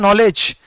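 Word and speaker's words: knowledge: ठीक है ना अभी के साइलेंट होता है आप सब जानते हैं के मतलब होता है नॉलेज इन्हें नॉलेज नॉलेज का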